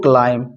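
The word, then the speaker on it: climb: का अंतत Salka buzzer to क्लाइम यह बी लिखा जाएगा पर य साइलेंट रहेगा ठीक है टू क्लाइम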